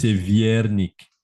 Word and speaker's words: Wernick: est-ce que je prononce Wernick, cette histoire? évidemment. C'est pas Moi, j'ai un nom Wernick, polonais, ouais, figure-toi. C'est Wernick. Viernick. Tu vois. C'est Ah, c'est Viernick. les WV comme en France, à wagon, Ex- wagon.